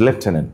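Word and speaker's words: lieutenant: This is লেফটেনেন্ট। মাঝখানে কিন্তু কোন এফ নেই।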